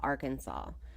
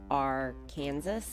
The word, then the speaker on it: Arkansas: The case involves a troubled 14-year-old boy from Conway, Arkansas, with absolutely no respect for anyone. Since we talked about Conway on the last episode, I decided to share some interesting facts about Arkansas.